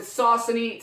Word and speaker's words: Saucony: different models of the ciccone ride so people pronounce it Saucony today I'm going to pronounce it Ciccone so right here I